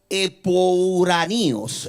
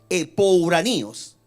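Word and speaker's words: ἐπουράνιος: En el texto original, lugar celestial quiere decir, se pronuncia en el original, epouraníos. Escuche bien, epouraníos.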